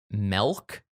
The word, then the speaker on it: Melk: So they arrived in this small town of Melk, and which is how some people pronounce the word milk, the stuff that comes from a cow.